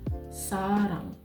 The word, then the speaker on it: 사랑: Sarang. Ada udaranya ya guys, kayak sa, bukan sa, tapi sa. Sarang.